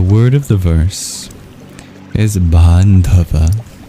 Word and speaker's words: bāndhava: And the word of the verse is bandhava. Bandhava.